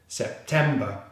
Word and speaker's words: September: It's just the B consonant sound and the schwa sound. Ba, ba. So we have all three syllables together. Sep-tem-ba. Sep-tem-ba. September.